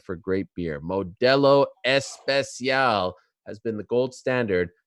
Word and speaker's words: Especial: Espacial. You know, I got a call last week from our friend Action Bronson. He said, you're saying it wrong. It's Especial, all right?